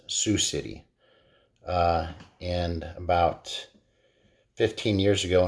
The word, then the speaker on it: Sioux City: pronunciation I guess of it's um not soo bahk City it's Sioux City and about 15 years